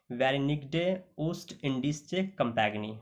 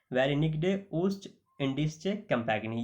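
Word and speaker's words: Vereenigde Oostindische Compagnie: तो याद रखना ये VOC, इसको हम कह सकते हैं फुल फॉर्म में वेरिनिग्डे ओस्ट इंडिस्चे कंपैगनी। ओके, दोबारा मैं प्रोनाउंसिएट कर देता हूँ, वेरिनिग्डे ओस्ट इंडिस्चे कंपैगनी।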